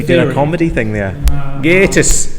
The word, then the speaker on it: Gatiss: Because he is from the north and would pronounce it Gattis. He pronounces it Gatiss.